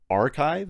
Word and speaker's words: arXiv: The X is supposed to be like a Greek letter chi, so it's pronounced archive.